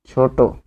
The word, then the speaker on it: ছোট: তো এটি উচ্চারণ হবে ছোট। ওকার হবে।